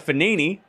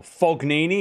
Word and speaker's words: Fognini: By the way, Basilashvili takes out Fanini. Or Fognini, if you want to be literal with it. But the G is silent.